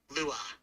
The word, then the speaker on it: Lewa: No, it's Lua. You can't pronounce it like Lua or Leia.